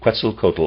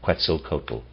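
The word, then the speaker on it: Quetzalcoatl: nature cretzel cotal was never also excuse me quel cotal also never appeared directly incarnated quel cotal is spelled Q e t z a l c o a TL quel cotal his symbol was similar to the Mercury staff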